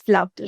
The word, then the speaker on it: Floved: Okay, so how do you pronounce it basically? It's flubbed. It's flubbed, right?